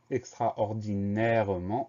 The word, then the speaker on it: extraordinairement: Le son en s'écrit N, et on a un T muet.